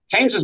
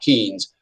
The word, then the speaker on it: Keynes: shouldn't mention Keynes here keynes's major bullet comes out in 19 that's how you pronounce this guy's name uh this fella right here uh is John Maynard Keynes not Keens uh but I'll mention